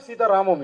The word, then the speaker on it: Sita Ramam: So whenever the ending of that defines it's the story belongs to that.